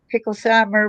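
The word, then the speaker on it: Picklesimer: another neighborhood resident sees Levi rid his bicycle Traveler down pickles suumer how do you pronounce that pickle Simer road yeah pickle Simer okay thank you at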